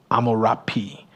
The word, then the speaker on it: Hammurabi: The common spelling of the name Hammurabi is actually rendered Amurapi, Amurapi. So it starts with an A, Amurapi.